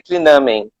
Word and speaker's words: Clinamen: Na verdade, se pronunciaria Clinamen. Teria até um acento, mas eu não coloquei porque eu acho feio. Eu sou autor do livro, eu ponto.